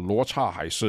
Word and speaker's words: Luo Cha Hai Shi: Let me spell it out. D-A-O and L-A-N-G. And the song's title is called Luo Cha Hai Shi.